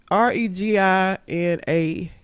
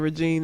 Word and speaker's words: Reginae: REGINAE. Nay on the end. So instead of Regine, it's Reginae.